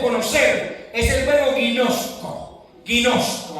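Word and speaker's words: γινώσκω: Guinosco. Así se así mismo como lo estoy pronunciando. Así mismo con g. Guinosco.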